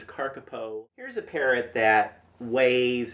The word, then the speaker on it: kakapo: the best scientific information the carcapo rescue now looks like it says kakapo but actually there's a pronunciation guide in the book that says this is carcapo here's a parrot that